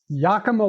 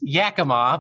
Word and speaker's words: Yakima: And I remember in Yakima, Washington, okay? Did I pronounce that correctly? You're close. It's Yakima, but yeah, that's good.